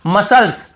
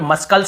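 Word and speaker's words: muscles: यहां पर भी देखिए मसल्स मसल्स मसल्स यहां पे मस्कल नहीं पढ़ रहे यहां पर भी सी सेलेंट है फिर देखिए सीजर्स सीजर्स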